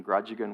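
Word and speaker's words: Grajagan: kind of linguistically lazy rather than pronouncing Grudge again would call it gland and I was also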